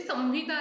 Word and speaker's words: संहिता: और मो के बारे में, जैसे संहिता रहता है, संहिता, चरक संहिता, तो वो जो स के ऊपर डॉट है उसको हम लोग म प्रोनाउंस करेंगे, तो स म हिता, संहिता, संहिता नहीं बोलेंगे उसको, हम लोग संहिता बोलेंगे।